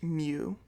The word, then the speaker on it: mu: denoted with this Greek symbol here which is pronounced mu just like you can remember as a move